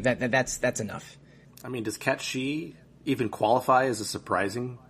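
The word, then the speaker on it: Cait Sith: And I know that Catchy is the right way to say it, but I'm still going to say Kate Sith just because I'm a moron whose brain hasn't quite left 1997.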